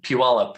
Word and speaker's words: Puyallup: Day 3 is Devil's Dream to, I'm going to say this wrong, North Puyallup River. Is that wrong? Yeah, it's actually pronounced Puyallup, and anyone outside the Northwest always has trouble with that.